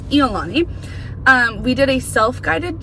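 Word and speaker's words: ʻIolani: I previously when we started this vlog called it Iani Palace and we learned that that is not how you say it. It is Eani.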